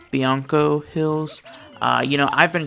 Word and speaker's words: Bianco Hills: in there cool so we made it to banco hills and just so you know my wife has told me that it's pronounced bianco hills uh you know i've been calling it banco